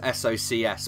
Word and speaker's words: Socs: Although it's spelled Socs, S-O-C-S. But I read in here somewhere it's pronounced Socs.